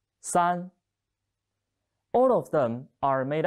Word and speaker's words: 三: The pronunciation is 三. 跟我读三.